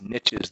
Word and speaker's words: niche: fill all of these niches that were there okay that hadn't been filled before incidentally that it's how you pronounce it niche niche niche okay all right so